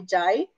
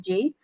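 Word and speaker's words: Jai: So it's like difficult for his wife, which is nama dia Jay, spells J-A-I, but he said to pronounce it Jay.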